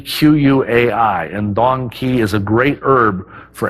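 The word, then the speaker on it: dong quai: I can't forget its female counterpart which is Don Kei that's spelled D o n g quu Ai and doni is a great herb for any female of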